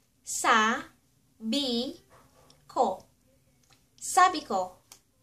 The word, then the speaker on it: sabi ko: I said ----- Sabi ko ----- Sa bi ko Sabi ko ----- I said ----- And for example, or halimbawa, I said you're beautiful.